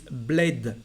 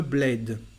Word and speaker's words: bled: It is bled, le bled, le bled. And we pronounce the D at the end of this word, coming from a foreign language.